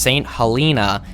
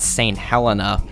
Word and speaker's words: Saint Helena: fellas that the name of this place is pronounced saint helena not saint helena this video is covering three main islands and